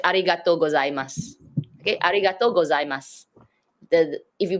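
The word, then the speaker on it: ありがとうございます: When you write it, it sounds like there's two words, but because it's combined in a sentence, it just becomes mas.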